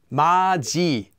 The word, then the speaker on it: 맏이: So an example of that is mat e, maji, maji.